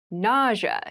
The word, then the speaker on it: nausea: itchy rash ity rash nausea nausea na NAA is a very interesting word with an interesting spelling NAA is the pronunciation nausea refers to a medical